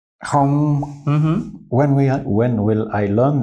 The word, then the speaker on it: Không: The ong is hard for Ralph. Now to say it right, keep some air in your mouth and round up your lips. Không. Không.